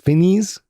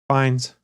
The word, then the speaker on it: Fiennes: I can never pronounce his last name right. Is it Fiennes? Fiennes. Fiennes? Ralph Fiennes.